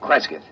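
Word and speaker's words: Cresgyth: C R E S G Y T H Kresith.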